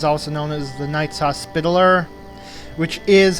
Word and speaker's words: Hospitaller: John's also known as the Knights Hospitaller which is how it's pronounced by the way and should be seeing